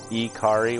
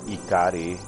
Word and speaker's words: Ikari: game to ikari Warriors ikari Warriors that's how you pronounce it or ikari you want to really be technical about it but yeah Guerrilla war